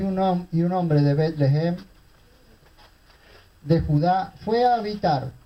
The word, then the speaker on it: Betlehem: Ustedes recuerdan que una familia de Belén, o de Betlehem, como se escribe y se pronuncia en hebreo, bajó temporalmente de la casa de pan, que eso significa Betlehem, a los campos de Moab.